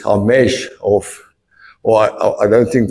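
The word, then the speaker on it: חמש: redemption by grace and in the Hebrew it's hamesh of or I don't think they pronounce it they do hamesh so ha mesh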